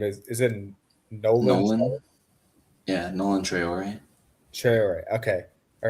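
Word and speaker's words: Nolan Traoré: I don't know how to pronounce his name. Is it Nolan Nolan. Yeah, Nolan Traore.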